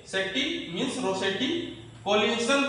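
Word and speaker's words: Rossetti: Means Shetty means रोसेटी, तो रोसेटी आ रहा थी प्रोनाउंसिएशन रोसेटी।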